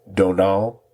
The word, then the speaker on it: Domhnall: It's very similar to saying Donald, but it's not spelled that way.